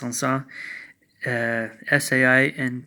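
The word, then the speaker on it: Saint-Saëns: like Saint Saens with the - but it's pronounced on saw si I and T - si es que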